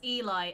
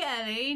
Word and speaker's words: Eli: me oh no no it's eli every day of the week maybe they just haven't like seen the book of eli or something so they don't know how it's pronounced you know feels bad man i can just imagine it just like ah hey ellen you're like my name's eli and they're like oh sorry i'm not even my name's not ellie god damn it oh